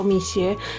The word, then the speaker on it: Mixue: bacanya itu mixwell atau mixe Katanya sih bacanya itu Misye tapi kalau kita bilang Michel itu kebanyakan orang itu nggak ngerti gitu ngertinya kalau kita ngomong mixe gitu baru nyambung gitu ya Jadi biasanya Mama